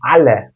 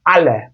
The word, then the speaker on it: alle: Türkçe okumaya meyl etsem o kelimeyi alle diye okurum. Ama öyle değil. Ale ale. Bakın ağzın ne kadar açılıyor. Görüyorsunuz farkı.